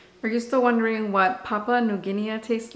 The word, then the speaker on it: Papua New Guinea: One of my friends, Jackie, told me that it's pronounced Papua New Guinea.